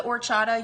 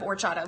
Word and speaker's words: horchata: It's spelled with an H, so it looks like horchata, but the H is silent, and it's a yummy,